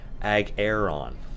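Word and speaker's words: Ahghairon: Agaron, with an emphasis on the air.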